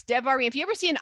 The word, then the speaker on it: Devarim: If you see an I, it's an E, like a long E. So Devarim. So Bereshit, instead of, we don't want to say it the other way.